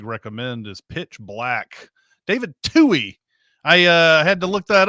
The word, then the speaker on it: Twohy: David Toohey. I had to look that up. I had always called it Twohy, called his name Twohy, because I didn't think, no, he doesn't use two as his pronunciation.